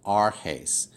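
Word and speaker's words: ἀρχῆς: I would divide it arhes, arhes. So this is pronounced, the first word of this rule is pronounced emprosthen. The second word is pronounced arhes.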